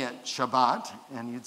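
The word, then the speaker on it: שבת: We call it Shabbat. Say that with me, Shabbat. And that's how it's said in Hebrew.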